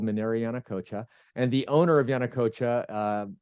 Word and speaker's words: Yanacocha: Yeah, it's funny because normally I would say Minera Yanacocha, which is more of a Spanish pronunciation.